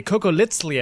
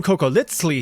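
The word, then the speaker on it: cocoliztli: If you watched my video about surviving the Aztec Empire, you know that funny little TL pronunciation, the sound, is on purpose.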